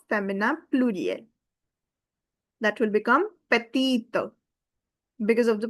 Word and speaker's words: petite: And the pronunciation will become petite. Because the e is silent and it will give its whole sound to previous t.